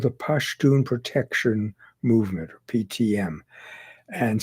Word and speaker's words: Pashtun: Now, that movement became known as the Pashtun. That's the native pronunciation of Pathan. Pathan was an anglicization. Their group is called the Pashtun Protection Movement, or PTM.